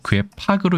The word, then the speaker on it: 괴팍: 자, 그래서 얘는 팍으로 읽지만 괴팍은 아니고 괴팍으로 읽는다.